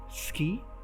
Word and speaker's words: ski: Ski, in Norse, is pronounced more like she.